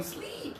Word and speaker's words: sleep: High tongue, sleep.